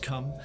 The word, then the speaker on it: Coom: It's written Coom, pronounced Come.